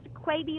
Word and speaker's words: Quebe: last name quaity it's the weird one it's pronounced quite be like maybe but it is spelled cutie EEE